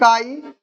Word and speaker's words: chi: इसको हम जो प्रोनाउंस्ड है क्या करते हैं? काई, CHI।